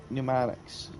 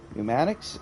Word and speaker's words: pneumatics: so executive and then pneumatics pneumatics is that why did they put a p there I know it's a silent P but why like what